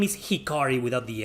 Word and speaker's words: Hikari: 2 i caught i said that mithra's name was shikari when when in reality it's hikari without the s at the beginning but rex i'm pretty